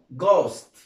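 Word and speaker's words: ghost: طيب لو جاء في جي اتش في بدايه الكلمه، حرف الاتش بتبقى سايلنت ما بتتنطقش، وحرف الجي هيتنطق جيم. حرف الجي هيتنطق جيم. طيب زي الكلمه ديت ها جي اتش او اس تي. طبعا انا هنا حرف الاتش مش هنطقه خالص، وهنطق الجي كزي حرف الجا، تمام. بس هنا عندنا حرف الاو يبقى هنضم، يبقى نقول ايه؟ جوست.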